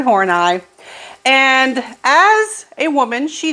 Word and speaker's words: Horney: name right all right it is not it's not horny please don't call her Karen horny that is Karen horneye and as a woman